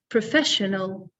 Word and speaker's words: professional: Professional, professional. So the stress is on the second syllable with this one, professional.